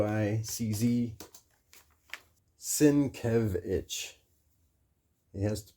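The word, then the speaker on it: Sienkiewicz: Bill Sinquitz Sinitz Sinquitz Bill whatever Bill go to his his website si e k i e w i cz sinkevich. He has pronunciation at the top of his site.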